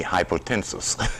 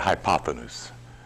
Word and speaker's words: hypotenuse: I've been spending all week pronouncing that word. Hypotenuse. It used to be called by me hypotensus.